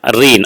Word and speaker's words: reign: Here reign uh reign means uh reign, r e i g n. Here the pronunciation of uh this word is reign.